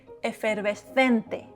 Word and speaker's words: efervescente: In Spain, efervescente. Okay, repeat. Efervescente. Efervescente. Dry consonants and open vowels that don't change.